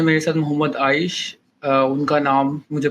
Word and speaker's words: Aish: It's pronounced nice, nice, आइश।